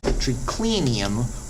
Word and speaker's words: triclinium: him be that one at four syllables count them one two three four and the third to last was clean him the triclinium why because the nick was short so that's how you